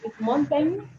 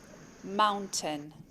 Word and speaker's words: mountain: I've had a few requests for words where we have the T, schwa, and N sound.